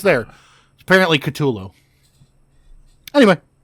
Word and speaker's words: Cthulhu: just so people know we're technically pronouncing it wrong I don't want anybody to get on us for it technically no what the was that apparently technically it is katulo two Loop there's a